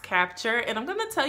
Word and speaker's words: Kapchair: a company called capture this is how you spell it but it's pronounced capture and I'm going to